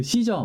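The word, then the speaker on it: Caesar: 갈리아 전기 그 카이사르 그 씨저 맞아요 영어식으로 읽으면 시절 고 라틴어 발음 울금 카이사르 있는데요 배신의 아이콘 프루트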